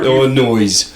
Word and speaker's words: Illinois: Why do you pronounce the S at the end of Illinois?